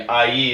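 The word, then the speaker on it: Aÿ: In Ailly, or I, if you're an American like me, Ailly is how it's pronounced, is right in the middle.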